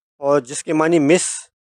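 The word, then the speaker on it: Monsieur: मसू यह फॉर्मल है और फ्रेंच में यह प्रोनाउंसिएशन की एक्सेप्शन है जिसके मानी मिस्टर यस सर मादाम यह फॉर्मल है।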